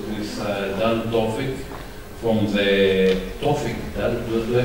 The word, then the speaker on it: Tawfik: And we start the first presentation with Dan Tawfik from the Tawfik. Do I pronounce it correctly? Tawfik.